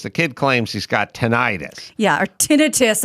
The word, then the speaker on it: tinnitus: tinnitus yeah or tinnitus i was told i was saying it wrong when i said they always called it tonight they just change it once everyone can pronounce it then they don't like the fact that lay people can pronounce their medical so then they change i mean dead grandma says it's tinnitus oh man my grandmother